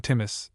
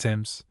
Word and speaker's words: Timus: This was a young actor named professionally Carlton Timus, pronounced Tims, who played the demon king.